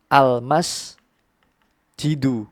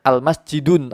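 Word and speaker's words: المسجدُ: Jadi bacanya al masjidu, bukan al masjidun atau masjidun lagi, tapi ketambahan al.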